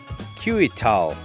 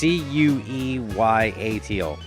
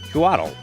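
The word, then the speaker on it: Couatl: So it's Cueyatal. Cuatl. Not to be confused with Quetzal. That's something different.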